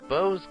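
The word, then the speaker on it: Bow: Bao's gotta be around here. Bo's gotta be here somewhere. I wanna say Bao, but I know it's Bo.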